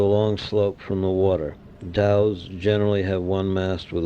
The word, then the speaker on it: dhow: They were almost certainly of the class of vessels called Dows and perhaps pronounced zhous with which the Red